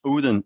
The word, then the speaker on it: Odense: e n s e how do you say that uh and then it's just do it flat odense Odin Odin said we say in Danish yes I'm proud that